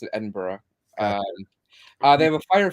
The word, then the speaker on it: Edinburgh: Come to why Edinburgh for Halloween? Tell us more. Also, how did you pronounce that word right now?